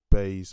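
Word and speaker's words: Buys: It was pronounced Bays, but her name is spelled B-U-Y-S. So I'm assuming that U is spelled like pronounced almost like an A.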